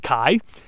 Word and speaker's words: chi: alphabet is called a chi and it is not pronounced X it was originally a k sound it was like a k with a puff of air it's often trans times